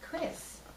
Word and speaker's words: Crisse: years and of course some people see it and they say oh you're Chrissy and I say no it's just pronounced Chris I guess now would